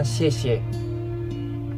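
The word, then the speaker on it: 谢: Tulisan di atas kue bulan ini bacanya xie. Artinya terima kasih.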